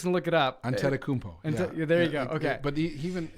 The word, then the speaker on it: Antetokounmpo: Giannis Antetokounmpo. I messed it up. How do you say it? Antetokounmpo? Yeah. Antetokounmpo.